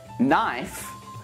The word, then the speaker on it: knife: Now, here are some words when we don't pronounce the K. Knee, knife, night, knit, knob, knock, not, no, and knuckle.